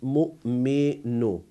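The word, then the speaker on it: مؤمن: So we don't pronounce waw and we pronounce hamza. So you see, hamza comes in the middle of a word, that is mu'minu.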